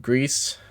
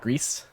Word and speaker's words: Gris: It's called Grease, which I might still be mispronouncing a little bit because I'm not putting like accent on it. Or like Grease.